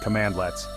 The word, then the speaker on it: cmdlets: commands in Powershell are known as cmds pronounced command lets these cmdlets are the